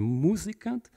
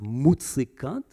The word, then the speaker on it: Musikant: that is, entanglements with Mr. Musikant, which Strache pronounced Mutzikant, right, in the debate to code what he wanted to do.